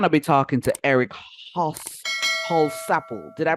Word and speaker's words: Holsapple: be talking to Eric Hall Supple did I pronounce that right like whole sample whole sample okay whole sample all